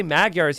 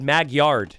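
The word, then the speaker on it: Magyars: Only he didn't say Maguars, he said, "Maguyard." He would always misspell it.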